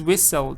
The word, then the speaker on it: whistle: Ed is what but this is whistle T is not even pronounced so the answer is